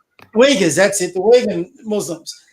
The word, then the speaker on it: Uyghur: There was a special out how they're trying to now all the women in, I can't pronounce is it Uyghur or I can't pronounce Uyghurs, that's it, the Uyghur Muslims.